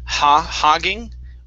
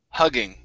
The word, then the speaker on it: hugging: Instead of hogging with an ah sound, hug, hugging.